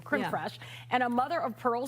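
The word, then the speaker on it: crème fraîche: Creme fresh. Oh, yeah. Not cream. Crim fresh and a mother of pearl spoon.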